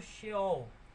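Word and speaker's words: שאול: cada um desses vocábulos cheol cheul ou seol pronunciado sheol em hebraico xú significa túmulo cova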